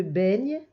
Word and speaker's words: baigne: se jettent comme ça se prononce baigne c'est le est de maison elle se baigne et à la fin il ya un e muet baigne baignent dans on le